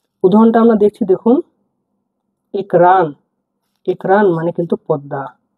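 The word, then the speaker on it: экран: আর এ হয়ে থাকে উচ্চারণ হবে এ এর মত উদাহরণটা আমরা দেখছি দেখুন একরান একরান মানে কিন্তু পদ্দা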